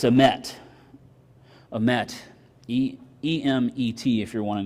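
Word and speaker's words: אמת: It's emet. Emet. E-M-E-T if you're wanting to spell that.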